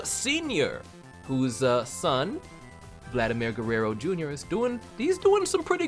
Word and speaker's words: Vladimir Guerrero: I'm wearing, in fact, the jersey of Vladimir Guerrero Sr., whose son, Vladimir Guerrero Jr., is doing some pretty good baseballs right now, from what I hear.